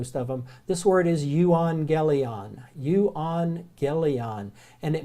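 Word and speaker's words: εὐαγγέλιον: I need to but any time you have to gammas together like that they're not pronounced as jeez they're pronounced as ng so that you go you on gayley on is the word so if you see two gammas together it's not a G sound it's an ng sound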